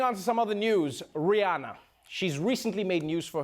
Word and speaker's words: Rihanna: all right moving on to some other news Rihanna she's recently made news for her successful fashion